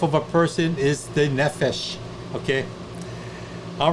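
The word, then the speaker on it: נפש: say that very well nephesh notice the accent on the first syllable what does nephesh mean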